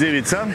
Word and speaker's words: Ivica: My name is Ivica, and it's pronounced same as pizza. So this pizza? CA is pronounced in Croatian like pizza.